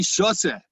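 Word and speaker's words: שותה: for those of you who know Hebrew, shoteh with a tet means stupid, and shoteh with a tav in Ashkenazic pronounced as a s means to drink tea.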